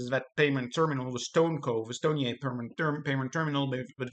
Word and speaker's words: StoneCo: Moving on to StoneCo, Stonier, as it's pronounced in Brazil.